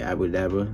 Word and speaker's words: Abra Cadabra: His name is like the magic trick, like Abra Cadabra, like with the magicians be saying that shit.